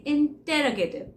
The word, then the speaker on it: interrogative: बोलिए, इट is called as द इंटेरोगेटिव। इंटेरोगेटिव नहीं बोलना आपने, क्या बोलना है, इंटेरोगेटिव भी नहीं बोलना, अभी भी नहीं ठीक बोल रहे आप, बोलो इंटेरोगेटिव, इंटेरोगेटिव, इंटेरोगेटिव, ओ को साइलेंट कर दो, इंटेरोगेटिव।